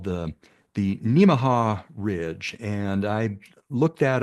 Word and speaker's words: Nemaha: area here called the Nemaha Ridge, and I looked that up. They say it's pronounced Nemaha, kind of like Omaha.